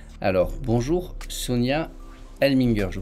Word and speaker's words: Elmlinger: Alors, bonjour Sonia Elminger, je prononce bien?